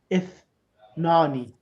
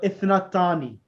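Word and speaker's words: اثنتان: No, ithnatani. Nani is the tani. Okay. Ithnatani. You need to add the ta as well afterwards.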